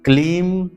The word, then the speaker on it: क्लीम: ओम ह्लीम श्रीम क्लीम नमः। यहां पर ह्लीम है, ह्रीम नहीं, ह्लीम, ह्लीम, ह्लीम, श्रीम, क्लीम। यहां पर क्रीम नहीं, बहुत से लोग क्रीम कहते हैं, क्रीम नहीं, क्लीम नमः।